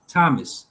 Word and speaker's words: Thomas: In some cases, th is pronounced just as t, as in Thames, Thomas, time in Thailand.